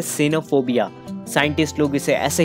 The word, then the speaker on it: cynophobia: तो उसे हम कह सकते हैं एक तरीके का डर, जिसे हम कहते हैं सिनोफोबिया। साइंटिस्ट लोग इसे ऐसे ही प्रोनाउंस करते हैं।